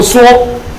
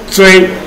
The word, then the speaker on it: 羧: 这个字我都念作羧，可是呢，教育部说我念错了，他说他应该念作锥，他应该念作锥，